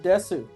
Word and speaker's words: Desu: tournament called puzzle and Desu I suppose when it's Desu you don't really pronounce the U do you it's like puzzling Des Des yeah um uh it